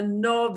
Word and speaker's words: nove: the pattern and again the nove is like the nove from novenda you know it's like the like the nove from the word ninety instead of having nueve ue it goes to a shorter sound of oh okay which again is